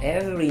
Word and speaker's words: every: 面白いこの every day この every の Re この時 every ですね R 自体が発音されませんなので E E になるので R しよとしちゃダメですもう E そのまま言ってくださいそしてその次 KNOW